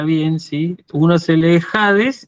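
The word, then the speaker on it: ᾍδης: Y esto se lee Hades, ¿sí?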